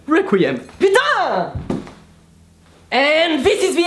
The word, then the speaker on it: Requiem: but you just have to pronounce it the French Way because the French way is the best way Requiem banana and this is